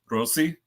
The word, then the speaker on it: Rossi: to be or Rossi he's he's gone back and forth on how he's pronouncing it um are you serious I was always right then I'm going Rossi Rossi here's the thing technically it is Rosie but because Americans have